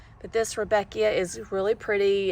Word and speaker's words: Rudbeckia: I always thought Rudbeckia, which I had to look up how to say it, was always Rudbeckia. So when I looked at the nursery tag, I was just surprised it had a D in it, Rudbeckia, instead of Rudbeckia.